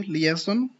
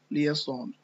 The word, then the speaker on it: liaison: Okay, liaison. Okay, this word is pronounced by 2 ways. You can also say liaison.